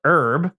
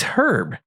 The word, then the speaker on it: herb: I know some people call it herb. That doesn't sound right at all. Right? It's herb.